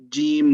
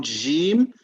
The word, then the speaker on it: جيم: We'll try to make it Jim, not Jim. So Jim is not as heavy. Okay. So Jim, control the airflow a little bit.